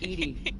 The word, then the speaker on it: EDI: Why are you named Edie? EDI is the phonetic pronunciation of EDI. That is an acronym for Enhanced Defense Intelligence.